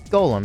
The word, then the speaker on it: GOLM: well much of his much to his surprise this ends up being pronounced as Golem anyway on a side note